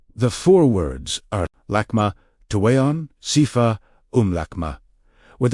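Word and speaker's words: Tuwayon: Tu Wayon, pronounced Tu W A Y O N. With emphasis on the second syllable.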